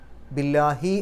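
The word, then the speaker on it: بِاللَّهِ: അതുകൊണ്ടാണ് അള്ളാഹു എന്നുള്ള പദത്തിൻ്റെ മുമ്പിൽ ബി വന്നപ്പോൾ അത് ബില്ലാഹി എന്നായി മാറിയത്. മാത്രമല്ല അള്ളാഹു എന്നുള്ള പദത്തിൻ്റെ തൊട്ട് മുമ്പുള്ള അക്ഷരത്തിന് കസ്റാണെങ്കിൽ ലാ എന്നുള്ള ഉച്ചാരണം കിട്ടും. അപ്പോൾ ബില്ലാ എന്നേ പറയുള്ളൂ, ബില്ലാ എന്ന് പറയില്ല, ബില്ലാഹി.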